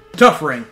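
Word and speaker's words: Touph Ring: Tough ring. That's what it's actually supposed to... It's, in the original game, it's spelled T-O-U-P-H instead of T-O-U-G-H.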